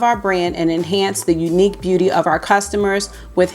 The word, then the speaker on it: Eunique: The name Eunique Beauty comes from combining the word EU, meaning good, well, of Greek origin, and the word unique, pronounced Unique Beauty.